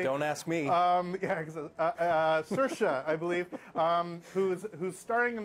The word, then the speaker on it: Saoirse: We have Saoirse Ronan, I believe I got her name pronounced correctly. Don't ask me. Yeah, Saoirse, I believe, who's starring in this film.